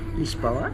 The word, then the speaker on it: Lisboa: Bon dia, as they say here in Lisboa, which is Lisbon, as they pronounce it here in Portugal.